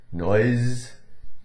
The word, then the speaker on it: noise: But S in those words, nose, noise, had more of a little bit of a Z tinge to it, right?